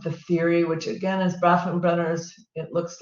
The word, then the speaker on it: Bronfenbrenner: It talks about the application of the theory, which again is Bronfenbrenner's. It looks like this. It took me a year to learn how to say this name. It's so big. Bronfenbrenner.